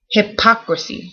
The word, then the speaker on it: hypocrisy: second one is hypocrisy so this has an emphasis here in the middle hypocrisy it goes up hypocrisy whereas this one